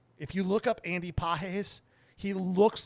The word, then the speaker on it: Pages: is Andy PES it's spelled pages but it's pronounced PES all he does is hit dingers a hit